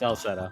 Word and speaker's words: Celceta: Because we got Ys 4 is Memories of Calcutta. I already forgot how to say it. Celceta.